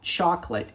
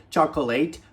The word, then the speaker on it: chocolate: é cupcake chocolate cupcake Olha só chocolate esquece o a então nunca mais fale chocoleite fale sempre shot E aí a gente